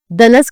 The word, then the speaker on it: دنس: ایک لفظ آیا دنس، دنس کا صحیح تلفظ یہ ہے کہ دال اور نون کے فتح کے ساتھ اس کو پڑھا جائے بمعنی میل کچیل۔ حدیث